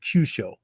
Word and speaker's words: Kyusho: So, for those of you taking notes, cusho spelled k yu. It's a long u sho using Romani, using the English language alphabet. Okay. So, cusho, right? uh the use just held longer.